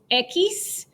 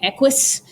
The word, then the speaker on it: equis: wrong button all right the x is equis um again i changed the phonetic um spelling like what's in the bracket there because in the book it's e-q-u-i-s and um people were saying equus so i change it